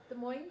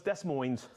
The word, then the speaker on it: Des Moines: De Moines. Oh, De Moines. I thought it was Des Moines.